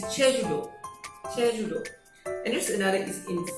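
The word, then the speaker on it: 제주도: Okay, it's not really Jeju-do, or not really Jeju-to, but it's Jeju-do. So they have this special pronunciation of that. Okay, that actually cannot be expressed in romanization of English or no BM.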